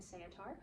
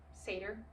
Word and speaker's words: satyr: Percy is joined on his quest by Annabeth Chase, daughter of Athena, and Grover Underwood, his friend and Saetar, who wants to, Satyr, not Saetar. Can you tell I read these books and did not get pronunciation advice from them?